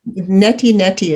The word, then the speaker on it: neti neti: that not that yeah neti neti is how they say it in eastern thank you i can't